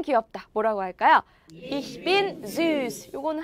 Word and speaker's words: süß: 이 S채트라고 불리는 이 알파벳은 단어 안에 들어가면 어떤 소리가 났었어요? 스 소리가 났었어요. S랑 똑같은 발음이 났었어요. 그래서 어떻게 읽냐? süß 이렇게 읽으시면 돼요. 읽어볼게요. süß.